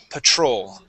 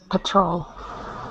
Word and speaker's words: patrol: okay so Patrol so we're going to use the schw sound there on uh with that a p Patrol Patrol there you go one